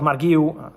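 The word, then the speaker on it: Marc Guiu: About Marguiu, correct pronunciation, Enzo Maresca already said that at the moment they have no intention to let him go on loan.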